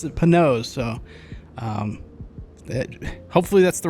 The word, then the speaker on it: Panoz: The family does pronounce it Panoz, so hopefully that's the right way to say it.